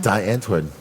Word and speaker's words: Die Antwoord: Don't say die. It's Die Antwoord. It's D.